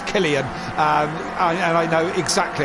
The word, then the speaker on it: Cillian: of course it's uh it's green pies it's killian um and i know exactly how to say